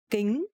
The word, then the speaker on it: kính: Kính is sunglasses, and in Vietnamese the consonant K and C pronounce exactly the same. For example, kính cận. Kính cận is K and C but actually pronounced similar.